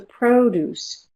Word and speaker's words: produce: Where's the produce? Produce has two syllables. The stress is on the first or the second? Produce. Produce. Yes, the first syllable.